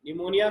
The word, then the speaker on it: pneumonia: निमोनिया पी से है spelling, PNEUMONIA, निमोनिया।